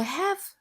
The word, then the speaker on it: halves: 여기서 have 이 단어가 조금 생소한 것 같아요. 옥스퍼드 사전에서 찾아보면 L이 묵음이고요. 그래서 have라고 읽습니다.